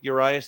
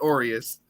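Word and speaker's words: Urías: know quite a couple am I saying his name wrong is that why you're laughing a little bit I I figured I I remember on one episode you're like I'm just sticking with your eyes it's Aureus is it Aureus really yeah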